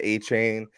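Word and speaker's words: Achane: And remember, bro, didn't he say he wanted his name to be pronounced Achan or Achon or something like that? I've seen Achon, I've seen A-Chain. Like certain, like he told the media, Dolphins media, A-Chain, but then I think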